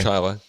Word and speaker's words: Chili: Anyway, I know Chilai, New York. Do you? Yeah, I know Chilai. Spelled like chili. It's spelled like chili. It's pronounced Chilai. Chilai.